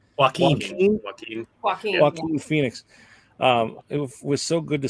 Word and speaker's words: Joaquin Phoenix: Joaquin Phoenix.